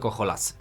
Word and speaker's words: HOLASy: in Poland It sounds better to the ear it's shorter so I'll just say it like that Not Heroes of Land R&C but Holasy But what will be